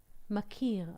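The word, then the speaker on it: מכיר: but with another dot in the calf if we put a a cuff I mean a DOT here it is it is pronounced like makir makir is recognized this is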